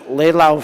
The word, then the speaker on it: Laus: There's a very powerful story of an apparition in Leylau, France. That's spelled Laus.